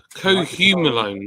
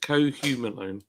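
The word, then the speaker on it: cohumulone: Cohumalone, that's how you pronounce it. Cohumalone.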